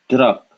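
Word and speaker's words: ट्रक: This would be pronounced through, sorry, truck.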